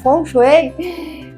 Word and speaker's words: Feng Shui: Fonchuei. Fonchuei é a pronúncia mais comum que a gente tem no mandarim.